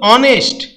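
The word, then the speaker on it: honest: তো a house কিন্তু অনেস্ট এইচ দিয়ে শুরু হচ্ছে কিন্তু উচ্চারণ হচছে অ সে কষেত্রে কিন্তু এন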